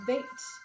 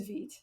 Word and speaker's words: Vite: good job guys uh kaput says you said Veet I always thought it was bait learn something every day oh thank you for